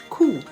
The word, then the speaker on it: coup: Coup, C-O-U-P. The P is silent.